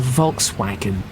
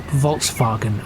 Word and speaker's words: Volkswagen: supposed to be pronounced, and not put too much of a British inflection on it. So I'm not going to say, oh, that's a Volkswagen, or something like that. It's a Volkswagen.